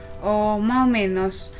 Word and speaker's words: más o menos: Más o menos. ¿Y tú? Más o menos. ¿Y tú? 그쵸? Más o menos. ¿Y tú? 혹은 지역에 따라서 S 발음이 좀 이렇게 먹는다고 하죠. 소리가 잘안 들리는 경우가 많아요.